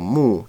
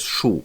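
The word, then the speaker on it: 木: So when they see the character for mu, tree, they have to remember that they shouldn't read it as shu, but they should read it with the correct pronunciation.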